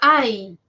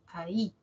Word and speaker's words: ahí: yato acentual por ejemplo ya no es Ay sino ahora es ahí ahí maíz ya no